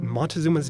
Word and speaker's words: Motēuczōma: Tie all this pronunciation analysis together and we can dig up a glimpse of what Montezuma's name sounded like in his day. Montezuma, Montezuma.